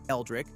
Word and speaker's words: LDRIC: Wednesday during the 2016 Pro-Am, LDRIC, pronounced Eldrick, which stands for launch directional robot intelligent circuitry, rolled onto the tee for a promotional stunt.